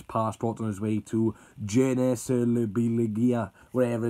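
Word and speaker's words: Gençlerbirliği: And if you want to know how to pronounce our Turkish team, it is Genclerbirligi. So that's how you pronounce it.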